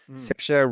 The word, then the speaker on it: Saoirse: So speaking of Irish actors, who is more prolific than Miss Saoirse Ronan? Saoirse rhymes with inertia, the woman of the difficult name for many a non-Irish person to say.